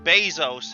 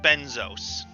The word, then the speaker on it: Bezos: at this point pron instead of pronouncing it as Jeff Bezos he pronounced it as Jeff benzos okay so next thing